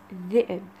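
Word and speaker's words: ذئب: Чуть-чуть тяжелое произношение этой буквы. И, к примеру, у нас есть слово «зэб».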